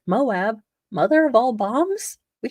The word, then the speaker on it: Moab: It is pronounced Moab. I'm not like making something up that's going to offend all the LDS people. I'm going with Moab right now until I'm told,